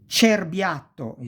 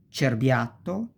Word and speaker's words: cerbiatto: So, cesta, ceci, cerbiatto, cesoie, cento, ce. You pronounce like chest.